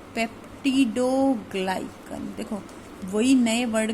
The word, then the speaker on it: peptidoglycan: देखो नया वर्ड है वापस से, पेप्टिडोग्लाइकन. देखो वही नए वर्ड का रूल होता है, नया वर्ड आ जाए तो 5 बार बोलते हैं तो लर्न हो जाता है. सो द new word is पेप्टिडोग्लाइकन.